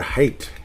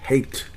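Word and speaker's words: Haight: top picks in this draft for Minnesota hunter hate hate and I'm pronouncing it correctly it's with a h AI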